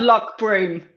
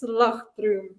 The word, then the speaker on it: Loch Broom: Loch, yeah, that's Scots. Yeah, it's not Loch. It's not Loch Broom. It's Loch Broom.